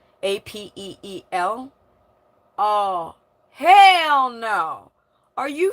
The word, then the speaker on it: Apeel: Shill Bates, rhymes with, and the, the company Appealing, but there's no ing, Apeel.